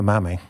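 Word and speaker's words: Mami: And Mammy is spelt M-A-M-I. So, it's been an exciting journey for Mammy.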